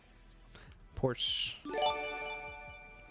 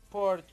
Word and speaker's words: Porsche: Porsche.